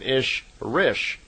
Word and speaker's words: Ishrish: And a female Ishwish is called an Ishrish, I-S-H-R-I-S-H. So in effect, Semjase is an Elo Ishrish, is how they would pronounce it in her language.